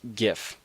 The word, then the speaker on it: GIF: Many people pronounce it GIF with a hard G, while others GIF with a soft G. Well, I'm here to settle it once and for all with some fairly comprehensive arguments for why it is in fact GIF.